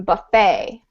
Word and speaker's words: buffet: um for this one you do not PR pronounce the T it's like you it's like you would say um buffet buffet yeah Buffet yeah